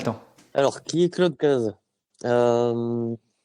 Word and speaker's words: Cazès: Alors, ça s'écrit Cazès, mais on dit Caz. Juste pour que les gens sachent, quand ils me cherchent, il faut qu'ils cherchent sur Cazès. Mais à la rencontre, c'est Claude Caz.